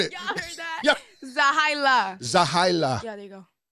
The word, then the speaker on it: Zehailah: is what's up everybody it's zaha z e h a i l a that's how you pronounce the name zaha holy